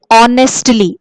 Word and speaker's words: honestly: all pronouns for example we say honestly h is silent locked c is not